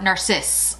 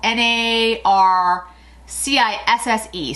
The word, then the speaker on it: Narcisse: This is Narcissus, or Narcisse. It's spelled Narcisse, so I guess it would be Narcisse.